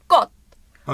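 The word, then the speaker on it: 꽃: gug yazmışlar gug yazmış ggot diye gülme olur arkadaşlar olmaz ama zaten ggot değil ggot diye okumuyoruz arkadaşlar got ha got got got diye okuyoruz hızlıca Şimdi burada bizim hangi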